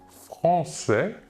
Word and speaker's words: français: Nous voyons ici la différence de prononciation. Nous prononçons le S final et nous ajoutons à l'écrit le E.